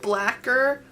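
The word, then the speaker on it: Blacquer: the color black here black cure um i don't know how it's like lacquer but like blacker you know what i'm saying but it's spelled like lacquer um and it's just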